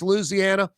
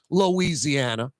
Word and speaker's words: Louisiana: Louisiana all right in in the country parts of the state it is four syllables Louisiana but in the city especially New Orleans it's five syllables it's Louisiana and no one says